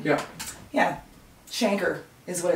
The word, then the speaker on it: chancre: fine uh-huh but yeah so it's actually called Shanker cuz I saw it I think it was